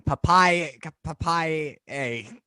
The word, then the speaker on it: Papailler: Papailler. Yeah, Popeye, yay! Like Mm. Popeye the Sailor Man, and yay.